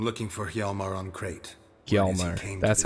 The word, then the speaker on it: Hjalmar: Hjalmar.